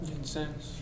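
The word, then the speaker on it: Vincennes: Ben previously worked for the city of Helena water department and graduated from how do you pronounce that? Vincense.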